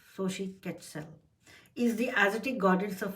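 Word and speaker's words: Xochiquetzal: front of you and it says this is pronounced as Shi catell SOI catell is the atic goddess of fertility and household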